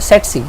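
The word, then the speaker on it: tsetse: है उसका नाम है सेटसी, ठीक है। ये टी साइलेंट है, ये सेटसी फ्लाई होती है।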